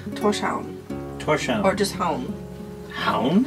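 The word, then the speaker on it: Tórshavn: but I was like, how do you pronounce it? And he's like, Torshavn.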